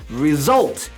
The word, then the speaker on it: result: 이 단어의 강세는 뒤에 result 이렇게 있기 때문에. 지금 제가 예로 들어드린 것은